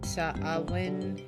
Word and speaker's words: Samhain: Samhain is how it's pronounced.